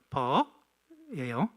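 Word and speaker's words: phở: 거야 그 여러분 저기 쌀국수 집의 정확한 발음은 버예요 버 예 쌀국수 집에 가서 정확한 바로 버 혹시 여기 베트남 분 계십니까 없죠음 그냥 퍼가 아니고 퍼 이거예요 그것을 가지고 시작을 했는데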